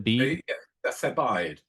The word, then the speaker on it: Thebaid: Did you say Thebius or Thebe? The Thebaid. Thebaid. It means the area around Thebes.